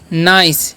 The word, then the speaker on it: nice: आगे देखिए क्या लिखा हुआ है, NICE, तो इसे हम लोग पढ़ते हैं नाइस, यानी कि CE जब भी रहता है उसका उच्चारण स होता है।